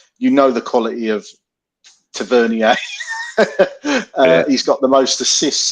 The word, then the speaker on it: Tavernier: Igman scored a great goal and fantastic ball over from Tavernier. Or Tavernier it is, isn't it?